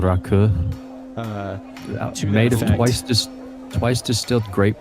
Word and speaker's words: rakı: And it's funny because like it's spelled Raki, I think, but like it's pronounced rakı, and the audio I